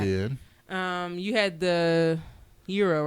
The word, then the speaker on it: gyro: I always is it is it euro is that how you say it Euro it's not hero it's not hero it's not gyro it's not gyro I